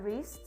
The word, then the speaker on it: wrist: So you don't need to pronounce the W. Bacanya wrist, jangan dibaca W-nya atau W-nya nggak usah dibaca.